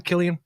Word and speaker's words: Cillian: Yeah, is that how you pronounce the name, Cillian?